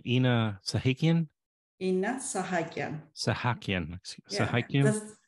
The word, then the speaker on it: Inna Sahakyan: Inna Sahakyan. Sahakyan. Sahakyan. Yeah, the same way as it's spelled, so nothing okay.